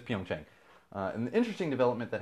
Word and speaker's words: Pyeongchang: actually happening in but it's happening in Korea Pyeongchang or Pyongyang I think that's it Jung Chang I might pronounce it I love I always do this